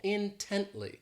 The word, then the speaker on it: intently: ridiculous next is intently this adverb has three syllables and the stress is on that second syllable intently so this word means